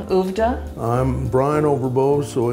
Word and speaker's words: Oovvda: We use the acronym and pronounce it Uvda, which is really spelled that way.